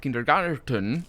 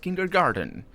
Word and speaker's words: kindergarten: That is, again, interesting, because it's a German word and it's not pronounced kindergarten. It's pronounced kindergarten because the T switched.